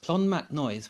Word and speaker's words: Clonmacnoise: Another place that I absolutely loved was a place called Clonmacnoise, which is a funny name, but that's how it's pronounced, Clonmacnoise, which is set in a bend of the